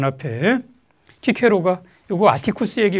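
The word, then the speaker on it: Cicero: 자, 서양에서는 그 영어권에서는 시세로라고 그러기도 하고요. 키 발음 잘 안 써가지고 그래요. 자, 그런 사람이 쓴 책입니다. 거기 1장의 맨 앞에 키케로가 요거 아티쿠스에게 요 책을 바쳐요.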